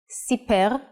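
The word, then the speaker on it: סִפֵּר: and in print now let's see how the nikud changes the pronunciation and meaning of the same word cefer looks the same so why are they read differently let's look at the same words with nikud cepher is a book siper is he told and sapar is a barber the only way to guess the right reading is by understanding the context so practice your hebrew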